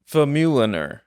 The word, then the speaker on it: Famuliner: know I was looking how do you say your last name famuliner famuliner yeah you got it fuler famuliner it's actually